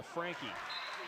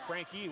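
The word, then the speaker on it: Franke: It's spelled F-R-A-N-K-E. Lots of times that's a silent E as Ed pronounced it. And I even said to him, Frank, and he goes, no, Frankie, we're from New York.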